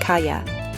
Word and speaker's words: calle: This combination sounds like the Y in yes. So the word kal, which means street, is pronounced kaya.